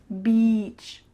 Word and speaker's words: beach: But make sure that when you pronounce it, you say E, beach.